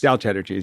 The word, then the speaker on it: Del Tredici: for us is that your name rhymes with cheddar cheese Del cheddar cheese yeah it's um that's